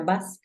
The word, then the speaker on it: bus: Mira, es una U. Suena bus.